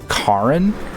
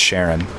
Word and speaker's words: Charon: It's spelled Charon, and I thought it was more like Karin or something like that. But I learned from playing Hades that it's actually pronounced Sharon, because Sharon is also the like shopkeeper in that game.